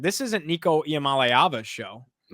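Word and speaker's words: Nico Iamaleava: And learn how to say his name because that's like job number one in if you're going to like be in this industry is say names. Niko I am aava.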